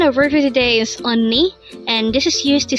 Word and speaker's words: 언니: voice on and the second syllable is knee pronounce it with me again a word for today is onni and this is used to say sister if